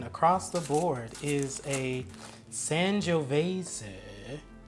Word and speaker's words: Sangiovese: the board is a Sangiovese. Sangiovese. It does not sound like it is spelled.